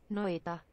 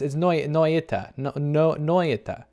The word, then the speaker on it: Noita: Noita. Noita. I've been saying it wrong. It's Noita.